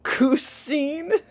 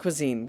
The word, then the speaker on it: cuisine: it's not you oh oh cousin it's pronounced cuisine kiana it means food